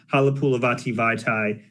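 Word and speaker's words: Halapoulivaati Vaitai: I was like, Halapulavati Vaitai, nailed it. And then Michael B asked me to spell it.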